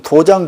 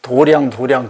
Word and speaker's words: 도량: 묘하게 지금 우리 한글로 읽으면 도장 그래야 되는데 꼭 저거 불교에서는 도량 그러라고 하는 거예요. 어디서 나온 소리인지 알 수가 없어. 중국말로 해도 장 그렇게 있거든요. 우리말로 해도 장 그렇게 읽어야 되잖아.